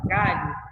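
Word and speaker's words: galho: com o único som quando você pronuncia a palavra Caio e eu tenho LH você não tem som do H você pegar o som do l o h ele aparece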